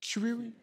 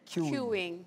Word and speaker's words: queuing: What it's pronounced? It? Queuing? Queuing.